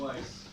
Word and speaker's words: Weiss: Weiss.